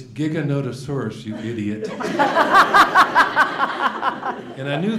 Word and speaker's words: Giganotosaurus: a new dinosaur that had been discovered called Gigantosaurus. At least that's how I pronounced it. And the letter was from a 12-year-old boy. And it said, it's Giganotosaurus, you idiot.